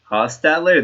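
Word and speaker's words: Hostetler: C and Donovan mcav Jeff hosler hosler that's how you pronounce it okay yeah uh I'm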